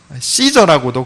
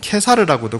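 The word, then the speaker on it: Caesar: 시저라고도 그러고 케사르라고도 그러고 똑같은 단어를 여러 가지 형식으로 발음을 다르게 한 겁니다.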